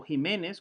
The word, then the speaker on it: Ximénez: Francisco Ximénez, o Jiménez, como lo pronunciaríamos ahora, era el cura de